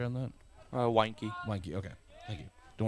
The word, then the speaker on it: Weinke: Did we ever get a pronouncer on that? Weinke.